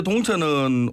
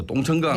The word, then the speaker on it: 동천: 네, 현재 동천은 오래도록 오염된 물이 흘러서 그 이미지가 그리 좋지는 않습니다. 예, 부산 사투리로 그냥 세게 발음해서 똥천강 네네. 예, 이런 식으로 많이 발음을 하십니다.